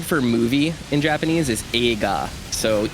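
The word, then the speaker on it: 映画: like the word for movie in Japanese is AA so e i g a AA when you pronounce the E and the I when you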